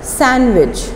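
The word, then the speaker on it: sandwich: इसको कंप्लीट करना है इस साल वे डी साइलेंट होता है सैंडविच नहीं आपने बोलना सैंडविच सैंडविच APN अपने wi-fi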